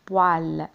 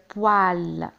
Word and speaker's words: poêle: انتبهوا إلى طريقة كتابة poêle. P O E avec accent circonflexe. une poêle.